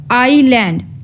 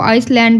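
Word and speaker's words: island: जो है वह देखेंगे अब हम लोग आईलैंड अगर इसको एस में भी पढ़ा जाए तो व आइसलैंड बनेगा बट ऐसा नहीं बोलेंगे वर्ड बोला जाएगा आईलैंड इसमें एस जो है वह क्या है साइलेंट है अब टी साइलेंट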